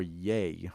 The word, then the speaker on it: Ye: The one that I didn't get when people were referring to him as Ye. Oh, yeah. Or Yay.